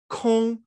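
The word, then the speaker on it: 空: It's the middle character in this that is pronounced kong, which is emptiness.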